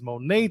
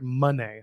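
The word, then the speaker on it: Moné: door talk there's Mercedes Monet talk there is sorry money I gotta say it right or else I guess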